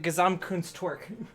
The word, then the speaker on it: Gesamtkunstwerk: I also prefer to pronounce it Gesamtkunstwerk.